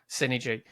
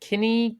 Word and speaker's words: Cinegee: Synergy. So it's like Synergy, like SYNE Right. or GY, or yeah. So that's how it's pronounced.